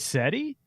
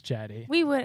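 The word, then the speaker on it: Cedi: But he called Jetty SETI, and I was thinking, if he's saying it's SETI, is it SETI? Or is No, it Jetty? It's Jetty.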